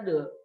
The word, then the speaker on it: the: Nah, THE, de, setelah itu huruf konsonan. Ya, huruf konsonan itu huruf selain huruf A, E, I, U, O. Contoh, the book, the pen. Nah itu Pak bacanya de. Nah kalau dia de ketemu huruf hidup, huruf yang huruf depannya A, E, I, U, O. Contoh, di apple, di umbrella. Nah itu Pak bacanya di, bukan de.